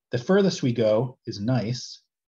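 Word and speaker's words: gneiss: furthest we go is nice spelled gne iss like we're crazy so when i say the word nice to describe a rock it's got its silent g um this is the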